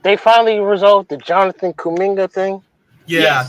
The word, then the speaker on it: Kuminga: Is that how you pronounce his name? Kuminga?